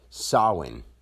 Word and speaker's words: Samhain: this comes from like I say on the one video sawin because instead of saying SE how some people say it was once spelled